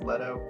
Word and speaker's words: Leto: name is jared leto pretty sure it's leto anyway in the movie jared leto's character is recounting his